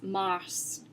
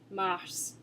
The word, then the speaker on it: mars: One that comes up often is mars, mars. So as you can see, it ends in an S, but I am pronouncing the S at the end.